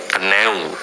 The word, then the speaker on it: knew: Di sini harus dijawab dengan newu karena dia adalah verb 2 dalam bahasa pronunciation-nya adalah new gitu ya. Sama halnya dengan baru cara bacanya.